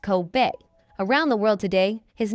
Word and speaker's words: Kobe: The only difference is that Kobe's name is pronounced Kobe, whereas the Japanese beef is pronounced Coobe.